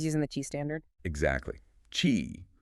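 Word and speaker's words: Qi: Chi pronounced chi is the dominant standard.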